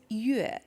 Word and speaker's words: Yue: And I'm like, what tone is it? Is it Yue? It's Yue. Yue. Yeah, Yue. Oh, Yue.